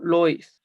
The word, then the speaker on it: Lewis: que se conoce como estructura de lewis o algunos lo pronuncian como lois también es conocida como